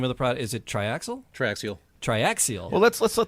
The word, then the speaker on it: Triaxial: Triaxial Mead Smiths. It's an extra syllable that I don't always pronounce.